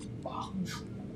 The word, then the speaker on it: Bahls: It's pronounced Bahls.